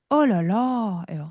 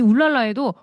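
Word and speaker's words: oh là là: 일단 기본 FM은요. 어랄라예요. 자 따라해 봅시다. 이양까지 가셔야 돼요. 어랄라. 어랄라. 음랄라가 이게 기본 FM이야. 근데 내가 조금 짧게 놀라고 싶어. 우라 우라음 울라로 짧게 놀랄 수 있어요. 그리고 조금 나이 드신 분들 중에는 혀를 끌 차면서 얼랄라고 하세요. 자 여러분 따라해 볼까요? 어 진짜 많이 해요. 그래서이 울랄라에도 울랄라도 있고요. 울라도 있고 올라도 있고 올랄라도 있고 정말 다양해요. 그래서 어 기본적으로는 올랄라다라고 생각하시면 되겠고요.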